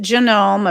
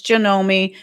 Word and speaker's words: Janome: I pronounce it Janome, apparently it's Janomi.